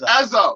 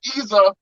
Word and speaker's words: Ezza: It's Ezza, because on the Niagara Music Awards they called him Isa. And that's not how it's said. It's Ezza. Okay.